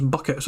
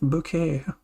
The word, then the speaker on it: Bucket: to heisen from bouquet did he spell it b-u-c-k-e-t oh so it's buckets no no no it's hyacinth bouquet i